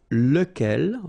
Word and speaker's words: lequel: So it will be, as we saw, lequel. Okay, so remember, you've got to pronounce it lequel. Even if you've got this QU, okay, remember that this U phonetically doesn't exist, so lequel.